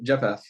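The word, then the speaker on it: Jephthah: Well, that makes me like because then when we get down to uh uh Jeff Jeff Jeffa Jeffa.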